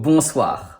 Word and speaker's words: Bonsoir: Good evening is in French Bonsoir Same story: 7 letters, 5 sounds, because we have two Digrams: ON for /on/ and OI for /wa/ S which is in the middle of a word and not between two vowels sounds like /ssss/ And finally the dreaded RRRR Bonsoir.